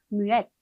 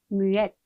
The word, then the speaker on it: muette: 여성형으로 갈 때는 자음을 한 번 더 반복을 해주고 을을 붙여줘요. 그러다 보니까 이때 발음이 살아나죠. 그래서 우리 읽어보면 muette, muette 이렇게 됩니다.